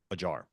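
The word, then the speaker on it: Acar: mason jar uh it's it's a Turkish name so it's spelled a c a r but the C is pronounced like a j yeah the old the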